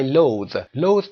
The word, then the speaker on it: loathe: I loathe به معنای نفرت خیلی زیاد هست. To really hate somebody. I loathe people means I really hate people. Loathe به این شکل the تلفظ میشه.